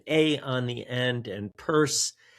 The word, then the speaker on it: Pearse: It's with an A on the end, and Pearse spelled like, I guess, hearse, Pearse, some kind of Irish version of it, Pearse.